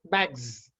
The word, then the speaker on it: bags: For making plural, we use yes here, but the pronunciation is bags.